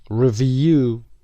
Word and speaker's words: review: referee number two review review second syllable number three Spectators Spectators